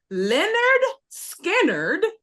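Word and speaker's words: Lynyrd Skynyrd: southern rock band is known for the album pronounced Leonard skinnard is it a Leonard skinnard b b the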